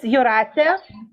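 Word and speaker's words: Jūratė: My name is Jurate. It's you. Jurate, okay. Yeah, it's correct.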